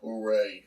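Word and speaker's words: Jorge: it's it's it's uh it looks like george j-o-r-g-e you know the spanish version of george all right they pronounce it hooray something like that something like hooray uh hooray hooray we're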